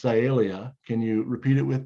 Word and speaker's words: Sialia: the same genus Calia all right so it's pronounced Calia can you repeat it with me sialia that's pretty good and so uh uh notice